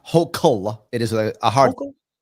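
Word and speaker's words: Hochul: So, Larry, you're running against uh Governor Kathy Hol. I believe you're running as an independent, correct? This is the thing that's interesting. Just Just get mad. Her name is pronounced Hokul.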